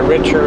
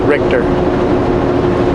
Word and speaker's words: Richter: I think I pronounced it Richer last time, but I think it's really pronounced Richter.